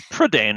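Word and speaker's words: Prydain: set of five books i think it's prodane right it's all there's a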